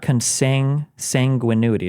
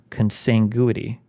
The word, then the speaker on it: consanguinity: my God it's not it's not consing sanguinity it's not that it's consanguinity consanguinity consanguinity how the